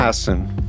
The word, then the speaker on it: Hassan: Hassan. Hassan. Okay. Like Maggie Hassan.